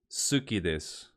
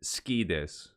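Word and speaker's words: 好きです: And if you were to pronounce this clearly, it would be suki desu. But if you listen to Japanese speakers, they don't say suki desu ka, they say ski desu.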